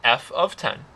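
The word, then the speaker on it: f(10): Now when you see this notation right here, this is pronounced f of 10.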